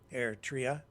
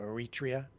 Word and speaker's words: Eritrea: where people have emigrated from Eritrea, or Eritrea, depending on how you pronounce it.